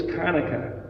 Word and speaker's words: Hanukkah: line through it and it's actually pronounced as a guttural hanukkah so what i do